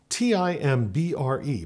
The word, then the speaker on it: timbre: Timbre, T-I-M-B-R-E, pronounced in English either timbre or timbre, is the word that we use for sound source in music.